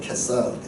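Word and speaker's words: Caesar: 시저를 그 C 발음을 크로 읽으면 케사르거든요. 케사르.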